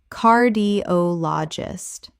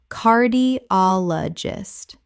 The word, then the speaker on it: cardiologist: homeopathy homeopathy Word 74 cardiologist Common mispronunciation cardiologist Correct pronunciation cardiologist The stress falls on the third syllable. ol Five syllables Example After the test